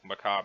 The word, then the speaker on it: macabre: Macabre. How do I pronounce this?